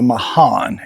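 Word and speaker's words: Mahan: These pecan trees that I mentioned last week, these are the Mayan, M-A-H-A-N, I think that's how you pronounce it.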